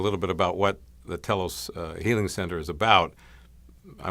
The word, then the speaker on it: telos: Telos is spelled T-E-L-O-S. It has the same beginning as in telephone and television and so on.